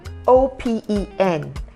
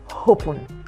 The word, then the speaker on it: open: very simple word open o p e n it's pronounced as open and not hop it is not H and then where